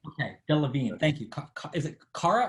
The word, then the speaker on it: Delevingne: Ali, by the way, is coming to our rescue on pronunciation. Delevingne. Delevingne. Okay, Delevingne.